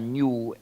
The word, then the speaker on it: GNU: El último componente del sistema GNU, o se puede pronunciar GNU en español. No hay confusión en español. En inglés no se debe llamar GNU porque parece decir nuevo, pero en español sí se puede llamar GNU.